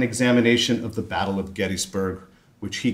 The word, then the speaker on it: Gettysburg: Yes, that's how it's pronounced, Gettysburg.